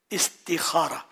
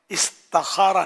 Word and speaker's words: استخارہ: استخارہ ہے نا، اس کا صحیح تلفظ استخارہ، استخارہ نہیں ہے.